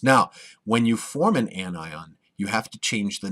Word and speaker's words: anion: type of ion is called an annion not an anion not an onion but an anion an ions are negatively